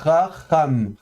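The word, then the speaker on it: חָכָם: Alors vous voyez de nouveau le paradoxe de l'hébreu moderne, c'est que le chet se prononcera de la même manière qu'en fait le kaf fricatif. Donc on va prononcer ça chacham, chacham.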